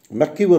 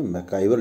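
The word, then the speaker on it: MacIver: अब उसके बाद में मैकीवर और पेज, किताबों में अपने मैकाइवर लिखा है, लेकिन इनका जो सही प्रोनाउंसिएशन है वो है मैकीवर और पेज।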